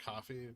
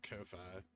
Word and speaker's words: Ko-fi: if I told you Cove cofo is pronounced coffee not Cafe as in buy me